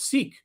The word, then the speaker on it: Sikh: And in fact, when I heard you say it, I'm thinking to myself, Sree, it's Sikh, like Seek.